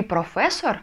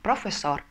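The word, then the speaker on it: profesor: слово - это преподаватель Как вы прочитаете это слово профисор не professor как многим хочется сказать а профессор потому что гласная значит ударение на последний слог следующее слово слово кризисски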